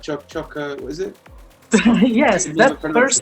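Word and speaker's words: Choquequirao: and that's that's how you pronounce it right chuck choco what is it yes that's the first thing it sounds like weird to be honest but it's chokey kirao which is basically naming after like a very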